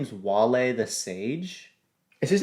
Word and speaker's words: Wale: them well this guy it's spelled w-a-l-e but i don't think his name is whale though i would say his name is not whale the sage so i'm gonna